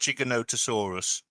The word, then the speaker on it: Giganotosaurus: unless you know you never can tell it's pronounced Giganotosaurus all right there you go there we go